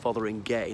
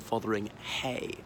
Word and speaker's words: Fotheringhay: close to anvil school I believe it's actually pronounced Fotheringay not fotheringhay despite its spelling and curiously that is